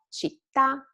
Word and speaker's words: città: and stay flat and then rise at the end. So caffè, città, università, tiramisù. This is just a matter of intonation.